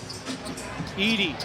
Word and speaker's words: Edey: Was protesting, but it was Edey's foul.